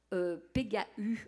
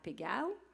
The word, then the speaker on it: Pégau: et puis il y a d'autres personnes qui prononcent pegau en français c'est vraiment pas très joli donc j'ai décidé d'enlever le tréa donc vous pouvez prononcer à la provençale Pego ou en français Pego voilà donc c'est un pichet à vin euh